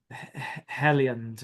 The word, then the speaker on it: Heliand: Heliand, I think. Yes, yes, yes. That is ringing a ton of bells. And it's Helliand actually, and it's in Old Saxon, There we meaning go.